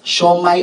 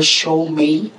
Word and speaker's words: Siomai: its various um what's this variations but it's pronounced as the same and that's show my or show May I don't not if you'll agree right okay